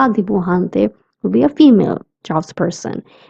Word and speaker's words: dibujante: The J sound in dibujante is k. That's why I'm saying dibujante and not dibujante. We don't pronounce it as j but k.